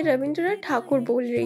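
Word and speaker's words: ঠাকুর: तो फर्स्टली मैं रविंद्रनाथ टैगोर ना बोल के रविंद्रनाथ ठाकुर बोल रही हूँ, क्योंकि उनका ओरिजिनल सरनेम है ठाकुर और ब्रिटिशर्स ठाकुर प्रोनाउंस नहीं कर पाते थे, इसीलिए बोलते थे रविंद्रनाथ टैगोर।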